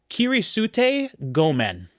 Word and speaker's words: Kirisute Gomen: Kirisute Gomen, track 1. And I know that's how that's pronounced because I just spent 120 hours in feudal Japan in Assassin's Creed Shadows.